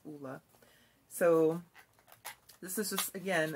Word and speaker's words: Ole: saying it correctly because for the longest time i was saying ola but it's pronounced oola so this is just